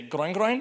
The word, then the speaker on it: groin groin: I believe in French, you guys say groin groin.